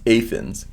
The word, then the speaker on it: Athens: In Kentucky, Athens is pronounced Athens.